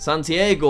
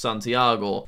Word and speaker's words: Santiago: Then we have Santiago, although I'm told it's actually pronounced Santiago.